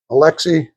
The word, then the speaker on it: Alexi: How do you pronounce that, Jason? Alexi.